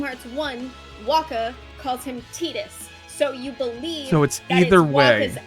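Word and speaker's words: Tidus: can go either way two two games say tetus one game says Titus therefore it is pronounced tetus and you cannot tell me otherwise I think it can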